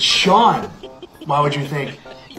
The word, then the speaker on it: Sean: So this word is see which means this word is seat which means this word is seen. No it's Sean.